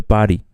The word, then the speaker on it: party: Et je tiens à préciser que les Américains ne prononcent pas le T. Donc, c'est pas after party, c'est after party. Party. Comme si c'était un R un peu bizarre.